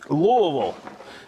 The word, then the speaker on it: Louisville: Louisville, he said it right, Louisville.